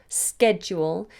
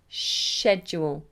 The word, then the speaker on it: schedule: the British pronunciation Americans say scared with asker schedule and British say Shh edge will schedule but hopefully my video will help you it